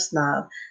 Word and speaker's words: PSNOB: Remember the P is silent. And just so everyone knows, if you want to know the meaning of snob, snob is the epitome of art, fashion, and culture.